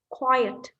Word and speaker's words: quiet: second syllable we have happy noisy quiet quite quiet right two syllables this one and healthy